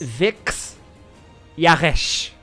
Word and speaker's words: Vix Yaresh: Vix Yaresh. With a rolling Vix R.